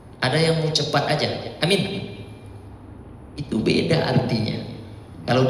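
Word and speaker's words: آمين: Kalau dibacanya alifnya yang panjang, ianya yang pendek, amin, percayalah artinya. Kalau dibaca pendek dua-duanya, amin, amankanlah artinya.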